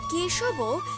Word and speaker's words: কেশব: কেশবও বয়ের জায়গায় আমরা কিন্তু সংস্কৃতের উচ্চারণ অনুসারে আমরা ও বা অ উচ্চারণ করতে পারি, অর্থাৎ কেশব এইভাবে উচ্চারণ করবেন, কেশব ক্লেশ হরণ নারায়ণ